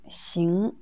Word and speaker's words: 行: Xing, c'est deuxième ton.